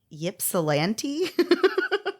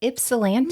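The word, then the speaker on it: Ypsilanti: I don't oh boy Yip salant you know what Mandy take off off that Y and you got it it's ipsilanti no way I can't believe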